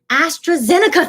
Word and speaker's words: AstraZeneca: Um, Clarissa says AstraZeneca. Thank you. Yeah, that's the pronunciation, right?